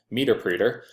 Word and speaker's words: Meterpreter: I'm going to use the Windows x64 interpreter, or meterpreter, as a client pointed out to me, they pronounce it, meterpreter.